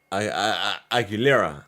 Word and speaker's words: Aguilera: Meanwhile, other names were up for multiple awards, including Edgar Barrera, Roar Alejandro, and Cristiana how do you pronounce her last name? Aguilera.